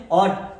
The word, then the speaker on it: ought: OUGHT, इसको क्या बोलेंगे? ऑट।